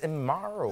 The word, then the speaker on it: Mero: I say, when people don't know how to pronounce it, say DESUS like Jesus, Mero like hero.